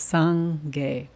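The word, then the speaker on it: སངས་རྒྱས: Okay, so the word for Buddha, meaning enlightened being, meaning awakened being, in Tibetan has two syllables. It's sang-ge.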